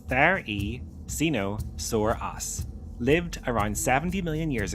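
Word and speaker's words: Therizinosaurus: Theosinosaurus, pronounced the e cino soras, lived around 70 million years ago in what is now Mongolia during the late Cretaceous period.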